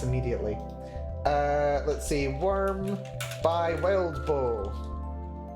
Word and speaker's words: Wildbow: Let's see, Worm by Wildbow. I'm pretty sure it's Wildbow, not Wildmow.